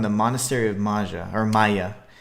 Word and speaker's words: Maja: My goal will be to clear out not only Quinta, but Zani School and the Monastery of Maja, or Maya. It's M-A-J-A, but it is pronounced Maya.